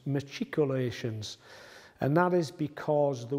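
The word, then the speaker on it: machicolations: word matriculations because earlier in the series I pronounced that word as maculations which is incorrect so my apologies for that the word is actually pronounced matriculations and that is because the word matriculation comes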